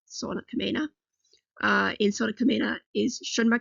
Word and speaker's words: Sauna Kamina: That is how you say their name, Sauna Kamina.